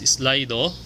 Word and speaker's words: Slido: of slido okay so using slido that would be pronounced as slido an easy to use